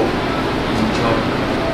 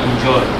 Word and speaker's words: enjoy: Every two syllable verb or preposition, the second syllable takes the word stress. Yes. Relax. Receive. Direct. Who can give me another example? Enjoy. Yeah? Enjoy.